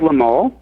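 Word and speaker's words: Lemole: McKee pronounce the other names. Gerald? Gerald Lamole.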